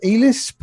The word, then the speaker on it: Elisp: And this passion has grown so much that I have learned the ELISP, would one pronounce that as ELISP?